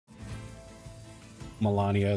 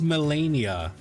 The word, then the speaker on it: Melania: Melania, the first lady. Am I saying it wrong? Isn't it Melania? Oh, it's Melania. It's me E, not MA.